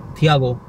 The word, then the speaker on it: Thiago: तो वहाँ पे टियागो उसका नाम एग्जैक्टली टियागो तो नहीं था, बट उनका नाम था थियागो, THIAGO, थियागो।